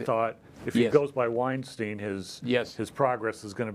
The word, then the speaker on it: Weinstein: He was actually born Garik Weinstein, that's how they pronounce it in Russian. We would say Weinstein, the Russians say Weinstein.